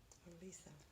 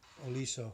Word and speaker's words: Oliso: Oliso. Oliso.